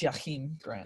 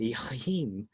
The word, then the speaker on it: Jakeem Grant: It's pronounced Jakeem Grant. Jakeem.